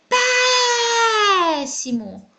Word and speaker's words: péssimo: O péssimo. Qual é a sílaba que foi pronunciada durante mais tempo? Pé. Muito bom. Pé é a sílaba tônica da palavra péssimo. Pé é a última sílaba da palavra?